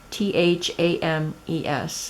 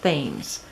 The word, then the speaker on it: Thames: I said I will link her it's Katherine Thames you can see the spelling there T ka th e ry n th a.m. es and she said it's pronounced Thames not Thames that's her YouTube and River City